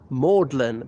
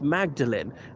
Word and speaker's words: Magdalene: myself instinctively pronouncing it maudlin but I gotta remember outside oxyde university it's always pronounced Magdalene as in Saint Mary Magdalene the possible wife of Jesus the one who who